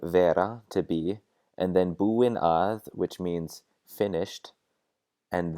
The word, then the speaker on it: búinn: boy that's talking then you're going to say boo in with two ends and if you're a girl then you're gonna say boo in with one end even though the pronunciation of these is identical and then a Lisa